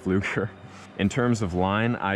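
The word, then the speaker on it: Pflueger: The exact reel is less important, but I use a 2000 size P. Fluger President, or not P. Fluger, it's just pronounced Fluger.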